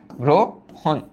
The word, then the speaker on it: গ্রহণ: গ্রহণ, একটু আগে আমরা পড়ে আসছি যে আদ্য রফলা ও রূপে উচ্চারিত হয়, তাহলে এটার উচ্চারণ প্রথমত হবে গ্রো, গ্রো, তারপর কি? হন, গ্রো হন।